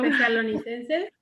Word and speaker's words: Tesalonicenses: Esto, perdone, no lo puedo pronunciar todavía muy bien, pero ¿me dices por favor? No. Tesalonicenses. Sí, perdón, sí. Tesalonicenses.